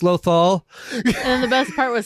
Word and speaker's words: Lothal: was running the trivia actually mispronounced loal and she's like lothal I think that's how it is and half the crowd is like it's loal and the best part